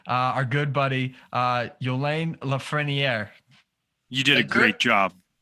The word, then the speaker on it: Yolin Lafrenière: with us today uh our good buddy uh yolane lafreniere you did a great job that's perfect you